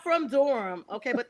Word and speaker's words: Durham: But it's Well, I'm not from Durham. Okay. But thanks for pronouncing it instead of saying durm.